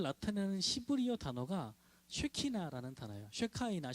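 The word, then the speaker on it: שכינה: 쉐카이나, 쉐키나라고 읽는데 이 말이 원래 어디서 나온 말이냐면 이웃집 사람을 샤켄이라고 읽어요.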